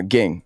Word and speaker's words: Ging: And is that how you pronounce it, bro? I feel like I've asked people close to him and they've, no disrespect to them. No. Ging. Yeah, Ging. Ging.